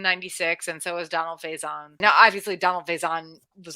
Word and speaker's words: Faison: I don't know how to pronounce his Faison. last name. I think it's Faison.